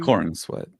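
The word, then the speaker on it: Corenswet: corn sweat.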